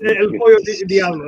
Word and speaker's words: El Pollo Diablo: Well, it's El Pollo Diablo. I mean, that's the pronunciation.